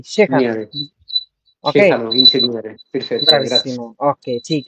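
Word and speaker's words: ingegnere: আচ্ছা, এখানে আছে আমাদের কি ভাই ওই লাস্ট আর একবার বলি, ইনসিনিয়েরো উচ্চারণটা এরকম হবে না, ইনসিনিয়েরো নো নো নো নো, শেখানো যেটা, না দেখেন ইনসিনিয়েরে, দেখেন আমি এবার বলি, সবাই একটু চুপ ইনসিনিয়েরে, থাকেন, সবাই চুপ থাকেন।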